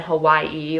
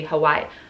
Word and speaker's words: Hawaii: like even hawaii like with the w but technically hawaii hawaii is how you're supposed to say it i'm saying it a little too harsh like not as harsh as a v but you get my point i just try to